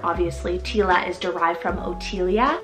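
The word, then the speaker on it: Otylia: these names are obviously Tila is derived from otia it's beautiful with the OT t y l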